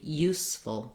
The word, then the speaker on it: useful: reduced vowel there, and useful, full. So trying the full, useful, full, youthful. First syllable stress on both of these words.